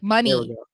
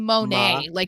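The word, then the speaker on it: Moné: Are you kidding me? Monet. Yes, money. Mercedes Monet. See, I feel like I'm saying it exactly. You're saying Monet, the painter. Monet. Oh, sorry. It's money, Monet.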